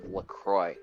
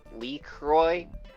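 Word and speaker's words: LaCroix: a nice can of Lucroy which he doesn't know how to pronounce because he he says it leak Roy in leak erosion again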